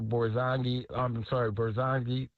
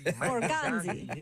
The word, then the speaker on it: Borgonzi: So I think that's a great opportunity for, Brinker, Borzongi. Why am I saying his name wrong? I be doing that too. Bully, I be messing them up too. Borgonzi. Yeah, there you go.